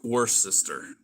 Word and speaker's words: Worcester: spelled pathways homestead hello worst sister like the sauce right it's the sauce without the shire yes you know how